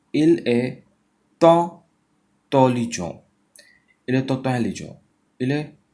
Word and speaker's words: intelligent: तो you will say il est tant intelligent. Il est intelligent. Il est intelligent. तो intelligent, il est intelligent. Intelligent. T is silent.